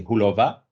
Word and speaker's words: Hůlová: So Petra Hůlová, I don't know if I pronounce it correctly, Hůlová, with accent in the A. Perfect.